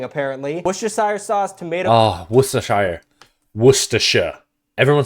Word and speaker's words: Worcestershire: Oh, Worcestershire.